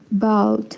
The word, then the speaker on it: bought: In 10 years, I'd like to have bought my own home. Very good, Camila. Very good. Solo una cosita, en el participio de comprar, pronunciémosle bought, como si fuera solo BOT, ¿no?